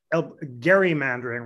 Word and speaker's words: gerrymandering: And remember, friends, you can always pronounce it gerrymandering rather than gerrymandering and irritate your friends who think you're being, a kind of know-it-all because it's a kind of obscure.